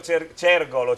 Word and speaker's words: Cergol: Appunto da parte delle azioni di Gianfranco Cergolo, Cergolo o Cergolo Emilio, scusami? Cergol, Va bene, accento sulla e del figlio Mattia sono